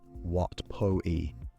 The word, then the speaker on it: Wat Pho: Wat Pho is said Wat Po-i, Wat Arun is said Wat Arun.